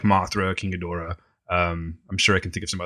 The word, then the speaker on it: Ghidorah: Ghidorah. What's that? It's King Ghidorah. I believe that's how they say it.